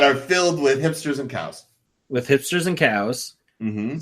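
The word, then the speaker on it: CAO: They like that to be pronounced cow.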